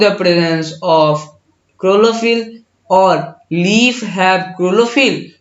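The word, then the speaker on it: chlorophyll: अगर प्रोनाउंसिएशन करो क्लोरोफिल, CHLORO, क्लोरो, PHYL, क्लोरोफिल। ठीक है।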